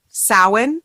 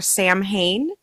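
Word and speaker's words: Samhain: question and I think it comes down to a lot of like sin or Sam Hayne and I try not to shame anybody that says Sam Hayne because odds are they've never heard it pronounced and they've just read it right and I think that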